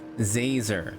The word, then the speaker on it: Zazer: It's Professor Zazer, like laser with a Z. Laser with a Z, not Lisa with an S.